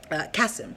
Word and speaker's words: Kassem: So I got Miss Montana Delarosa to beat Nadia Kassem. Kassem. I was saying it wrong, excuse me.